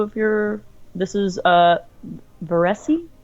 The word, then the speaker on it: Versse: This is Veresi? Versi. Verse.